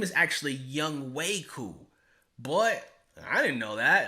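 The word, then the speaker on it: Younghoe Koo: if you didn't I announced Atlanta's kicker as young Hoku and that's not right I actually had a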